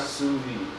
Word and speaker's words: sous vide: Pronounce it one more time. sous vide.